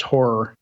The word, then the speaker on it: HAR: said in the chat horr files pronounced horror as in horrifying horror uh used the bad